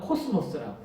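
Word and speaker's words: κόσμος: 헬라어로는 게라고 발음합니다. 14절의 세상의 빛, 거기서의 세상은 영어로 world, 헬라어로는 코스모스라고 해요.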